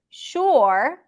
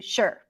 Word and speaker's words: shore: For example, shore is the or as in pour, as in fury. But a lot of people would just reduce it to sure, sure, stir, sure.